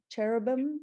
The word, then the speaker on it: cherubim: Cherubim?